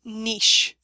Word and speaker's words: niche: spelled ni i c h e but it's pronounced Niche Bob found his Niche when he discovered his